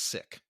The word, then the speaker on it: CIC: Well, the acronym, and this is funny, it's CIC, but it's pronounced SICK.